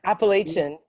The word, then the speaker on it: Appalachian: a songwriter using her Appalachian dulcimer. I hope I pronounced it correctly, Diane. Close, it's Appalachian, like okay, the Appalachian Mountains.